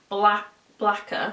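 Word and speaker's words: Blacquer: And this is their blacker, so it's spelled like lacquer but blacker, do you get me?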